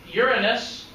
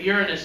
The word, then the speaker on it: Uranus: But that's Jupiter, that's Saturn, that's Uranus, or Uranus, if you want to call it that. Uranus is funnier, but Uranus is actually how it's pronounced.